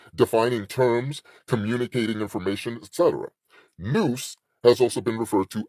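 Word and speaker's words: Nous: need to touch on the Noose which is spelled n o us not no o o e noose n o US represents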